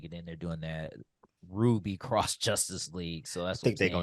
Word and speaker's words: RWBY: know it's RWBY but they pronounce it as Ruby because that's what the show is about but the RWBY is